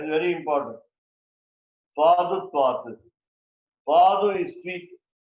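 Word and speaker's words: svādu: Swadu is sweet. English SWEET. Sanskrit is SVAADU. almost similar in pronunciation.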